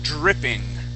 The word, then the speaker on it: dripping: when you have uh when you have Dr okay you want to think of that as one as one sound so instead of saying D dripping and rolling that R we create a Dr sound okay the word is